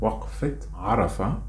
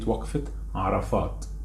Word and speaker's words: Waqfat Arafah: which is Al-Waqfa, or the full name Waqfat Arafah. Waqfat Arafah, or even some people can say it Waqfat Arafat. Masry of course will pronounce it Waqfa, Al-Waqfa. So in Masry it will be Al-Waqfa or Waqfat Arafat or Waqfat Arafah.